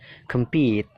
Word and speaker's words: compete: yang kedua ya believe yang ketiga compit jadi pitnya itu Ditekan kemnya itu kan dibaca pecil ya Kem ya jadi singkat kem kem-nya singkat compete compete peit-nya itu ditekankan yang keempat complete tinggal